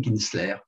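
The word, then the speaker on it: Kintzler: paraissent du plus haut intérêt, qui s'appelle Catherine Kinsler. Catherine Kinsler, ça s'écrit K-I-N-T-Z-L-E-R.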